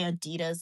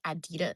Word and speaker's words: Adidas: People from Australia say Adidas like Adidas. I can't say how they say it.